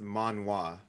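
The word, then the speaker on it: manhwa: linked it actually in the zoom chat it's pronounced manwa yeah so long story yeah long story short manwa is Korean comics that are um basically like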